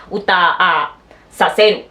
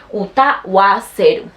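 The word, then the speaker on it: 歌わせる: Estos verbos que terminan en U, esos no se dice utasaseru, se dice utaseru, no se dice así, se dice utawaseru, siempre con el wa.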